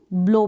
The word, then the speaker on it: blow: BLOW, ब्लो पढ़ा आपने, ब्लो मतलब फूंक मारना। तो OW का उच्चारण ओ, ब्लो मतलब फूंक मारना।